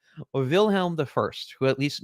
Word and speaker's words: Wilhelm: respect for Kaiser willhelm at least get the Wilhelm part willhelm vilhelm the first who at